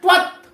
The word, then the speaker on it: त्वत्: इसको कैसे बोलना है? त्वत्, पूरा नहीं बोलना, त्वत् ऐसा नहीं, त्वत्।